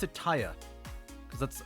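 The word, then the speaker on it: Tarja: them pronounce it as Taya, almost like the R is silent. I always heard them pronounce it Tarya, like the J is a Y, like Norse stuff or Hispanic stuff.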